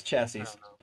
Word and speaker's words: chassis: think it's it's okay pronounce chassis it's chassis chassis that's the only thing